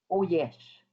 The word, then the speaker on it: Uiesh: Le U, là, en inno, on le prononce en O, donc ça fait en O. Oyesh. Oyesh, parfait, excellent.